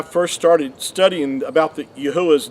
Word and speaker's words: Yahuah: became to understand that his name is pronounced yahuwah and that is actually